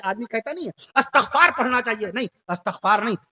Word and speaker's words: استغفار: میں عرض کر دوں آپ سے صحیح لفظ اس طریقے سے استغفار. صحیح لفظ ہے استغفار، استغفار نہیں ہے. استغفار کبھی نہ کہیے گا، استغفار پڑھیے. آدمی کہتا نہیں ہے استغفار پڑھنا چاہیے، نہیں، استغفار نہیں، استغفار.